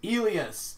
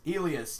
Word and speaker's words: Elias: like howdy Peterson says how do you want your name said he's like alias Peterson ooh Ilyas Ilyas yeah Elia spender s'en